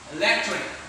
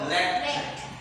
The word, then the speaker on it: electric: Electric. Okay, so it's in the second last syllable. Electric. Next, bamboo.